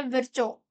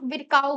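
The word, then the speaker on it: Virchow: अब इसको आपने आप क्या प्रोनाउंस करते हैं? यह मुझे नहीं पता पर मैंने स्कूल से यही प्रोनाउंस किया है। विरचो। आप विरकाऊ भी बोल सकते हैं। It's totally depend on यू।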